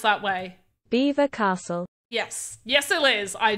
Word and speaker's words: Belvoir: that I haven't but it's spelled like Belvoir but we call it beaver it is it is pronounced that way Beaver Castle yes yes it is